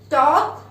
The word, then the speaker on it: talk: Talk. L is silent again. Very nice.